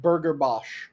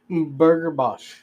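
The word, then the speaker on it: Burger Bach: by the name of Burger Bos. Burger Bos. It was spelled like Burgerbach, but it was a New Zealand place.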